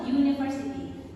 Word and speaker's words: university: Kata university walaupun di sini adalah huruf U ya, di mana huruf U itu adalah huruf apa? Vokal. Tetapi secara pelafalan atau pronunciation-nya ini sebenarnya ada huruf Y di sini yaitu adalah konsonan. Berarti kita pakai di sini adalah kata e. a university.